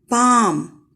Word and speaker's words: palm: The next word is palm. Here, L is silent.